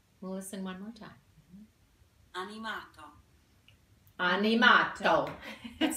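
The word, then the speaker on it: animato: now so let's listen to the italian term pronounced correctly on yamato we'll listen one more time on yamato Annie Mott oh it sounds very that we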